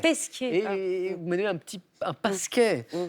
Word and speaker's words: Pesquet: J'ai mal prononcé, Oui. c'est Pasquier. C'est Pesquet. Pesquet.